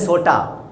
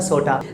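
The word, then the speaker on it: sorta: सॉर्ट ऑफ को हम लोग शॉर्ट में क्या बोलते हैं, सोटा। अब एक पंजाबी में भी बोलते हैं सोटा, ठीक है, उसी तरीके का प्रोनाउंसिएशन इसका सोटा।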